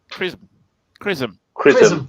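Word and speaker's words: XRISM: But it depends if the Japanese, how is it pronounced as? Chrism.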